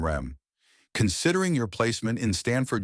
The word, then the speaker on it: REM: he explained to me ADM and RM pronounced Adam and REM considering your placement in